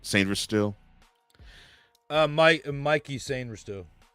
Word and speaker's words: Mike: And to me, Mikay, I think that's how you pronounce it, right? Sainver still? Mikey Sainver still. So it's Mikey. I thought it was Mikay.